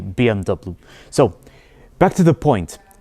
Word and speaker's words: BMW: German Way of pronouncing it in Germany they pronounce as BV but in English we say BMW so back to the point this particular BMV 1 series costs €1,000 and this is exactly